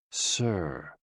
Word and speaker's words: si: SI, pronounced like sir, with a slow exhale, which is associated with the lungs.